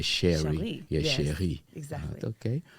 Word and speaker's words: Cheri: Almost like French, right? Exactly. Yeah, Cheri.